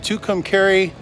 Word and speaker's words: Tucumcari: We are at the Blaze Inn Saddle RV Park, and I guess it's pronounced Tucumcari, New Mexico, and I think it's named after the mountain, which is, you can see it behind me, way back there.